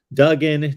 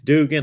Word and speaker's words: Duggan: the Year yep exactly so Duggan Dugan I've heard it pronounce both ways even on TV broadcast 22 of 29 278